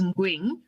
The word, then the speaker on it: Ngwing: Actually, the N is silent, so it is Ngwing, so you were close enough.